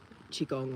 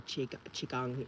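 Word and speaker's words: qigong: it's a gentle movement chigong or CH Chiang is pronounced both um yeah that's what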